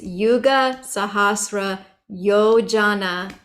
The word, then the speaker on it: Yuga Sahasra Yojana: And I confirmed that pronunciation with some Indian friends. They said, yes, it's Yuga Sahasra Yojana Parabanu. And then Lilio Tahi Madurapala Janu. So yeah, sometimes the J is like a Y and sometimes the J is like a J.